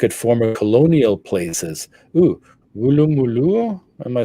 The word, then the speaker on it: Woolloomooloo: Ooh, Woolloomooloo. Am I saying that right? What is this? What was that? That's a place in Australia. And how do you say it? Woolloomooloo. Woolloomooloo, obviously.